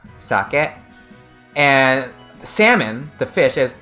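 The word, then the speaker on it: 酒: sake salmon is sake so the alcohol is a low pitch than a high pitch it goes socket and salmon the fish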